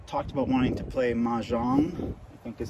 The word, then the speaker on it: Mahjong: A couple of my friends talked about wanting to play Mahjong, I think is how you pronounce it.